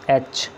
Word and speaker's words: etch: ये भी second place है वावल, जैसे HETCH, एच। पहले हमने स्ट्रोक को प्लेस करना है, उसके बाद वावल लगाना है, लाइट डॉट लगाना है। एच में भी टी साइलेंट है, सिर्फ शॉर्ट ई और